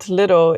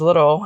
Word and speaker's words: Lidl: In Finland, Lidl is pronounced as little. I know some people say Lidl, especially in Germany.